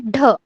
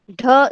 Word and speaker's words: ढ: ड के बाद आता है ढ. ढ इज प्रोनाउंस एज DHA, ढ. ढ को कैसे प्रोनाउंस किया जाएगा?